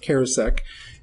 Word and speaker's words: Charousek: it's you see it as cheris but it's pronounced kosek and he is nicknamed the comet probably because